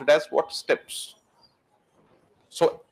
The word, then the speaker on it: steppe: S-T-E-P-P-E, steppies बोलते हो ना? We pronounce it as what? Steppes.